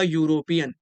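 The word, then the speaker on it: European: तो अ यूरोपियन, इसका जो प्रोनाउंसिएशन होगा वो होगा यूरोपियन। क्या होगा? यूरोपियन। तो या साउंड के लिए हम यहाँ पर ए का यूज कर देंगे।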